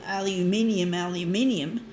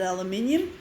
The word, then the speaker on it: aluminium: Like the Australians, we call aluminium, and the Americans call it aluminum.